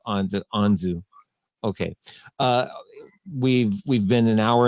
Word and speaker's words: Anzu: It's Anzu, rhymes with Anzu. So Okay. Anzu, not Anzu. Anzu.